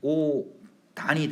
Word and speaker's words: 옷 안: 음절의 끝소리가 된 상태에서 얘가 이렇게 연음이 되니까 최종 발음은 오단이 되는 거거든요.